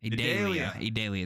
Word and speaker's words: Idalia: Idalia is how you say it.